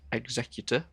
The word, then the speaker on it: Executor: Executor Cranus, we decided last episode that it Executor is the correct way to pronounce that.